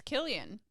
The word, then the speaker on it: Cillian: nest sound also wait many non-irish fans for some reason believe it's pronounced with an S sound but it's instead pronounced just like the anglicized spelling k ilian so it's Killian yeah huh well [